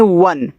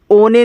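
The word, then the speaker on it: one: ओ एन ई इसको पढ़ते हैं वन। ओ ने नहीं पढ़ना है। वन पढ़ना है।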